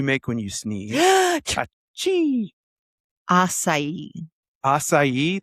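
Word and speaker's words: açaí: Acai. Acai. There's not enough letters for that. Yep, 4 letters, but 3 syllables.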